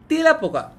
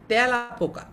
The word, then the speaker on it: তেলাপোকা: আমরা কিন্তু বলি না যে তেলাপোকা, আমরা কি বলি যে তেলাপোকা? আমরা বলি তেলাপোকা, অর্থাৎ এর উচ্চারণটা এর মতো হচ্ছে, তার মানে এইখানে যে এটা আছে সেটা বিবৃতভাবে উচ্চারিত হচ্ছে।